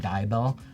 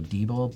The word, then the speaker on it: Deibel: wrong, the last name Deibel. Most people want to go Deibel, but because it's German, it's backwards.